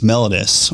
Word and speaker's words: mellitus: use the term sometimes diabetes mellitus or mellitus some people can pronounce it that way and you know